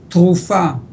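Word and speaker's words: תרופה: But for example, in English you say therapy. In Hebrew you say trufa. Okay, therapy, TRF. In Hebrew is trufa, TRF.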